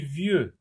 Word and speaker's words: vieux: V avec ye, ça se lit vieux. X n'est pas prononcé.